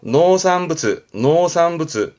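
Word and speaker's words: 農産物: 노산부츠. 농작물 발음은 노사크부츠.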